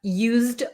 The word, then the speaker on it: used: When we add the d um for something that you have used already, we're going to say used, it's going to have a z sound.